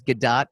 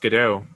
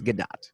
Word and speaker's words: Gadot: By the way, that is Gadot. I am actually pronouncing her name correctly to all you haters out there. Yeah. No, just saying. I've heard it pronounced Godot.